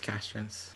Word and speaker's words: Castrence: And is your last name pronounced like Castrens? Yeah, it's Castrens.